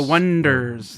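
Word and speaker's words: Oneders: is that the Wonders the Wonders it's spelled like like one the own eaters that was the joke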